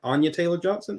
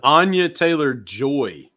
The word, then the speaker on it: Anya Taylor-Joy: Anya Taylor-Johnson, is it? Anya. I know it's Anya something. Because if I say Taylor Johnson, Anya Taylor-Joy.